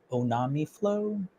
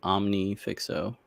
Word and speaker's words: Omnifixo: next week the little I don't even know how to pronounce their name on onami Flow the little soldering clips that I posted about yeah omnifixo omnifixo that's the name omnifixo and then there's a